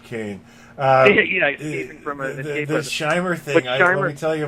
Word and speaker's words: Scheimer: And then I said, as a kid, I used to call them Schemer cartoons because I'd see the name Scheimer, and but I didn't.